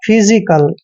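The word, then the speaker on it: physical: आई सी ए एल पी एच का उच्चारण फै कर रहे हैं वाई को ई की मात्रा पढ़ते हैं और एस आई का उच्चारण ज और छोटी ई की मात्रा करेंगे क्योंकि वाई के बाद जब भी एस आता है और एस के बाद आई आता है तो एस का उच्चारण ज करते हैं इस तरह से हो जाएगा फिजी और देखिए सी ए एल का उच्चारण कल करते हैं फिजिकल फिजिकल का मतलब होता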